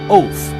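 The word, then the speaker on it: אות: It's spelled O T with a line under the T. Which gives it a T H sound. It's pronounced oath.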